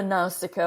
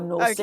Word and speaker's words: Nausicaa: You can say it either Nausicaa or Nausicaa.